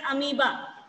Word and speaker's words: amoeba: We pronounce it as amoeba.